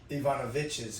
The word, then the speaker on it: Ivanovich's: Ivanovich's, because there's an apostrophe S.